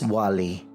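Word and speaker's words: Oualie: visit planning number two owali beach before you start savoring the unlimited Margaritas from the on-site Beach Bar try pronouncing the name of this beach which is Wally and since Wally's shares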